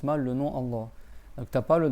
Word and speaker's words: Allah: Si tu veux dire le nom de Allah, faut que tu dises Allah. Il y a deux L et tu prolonges le A et après il y a un ha à la fin.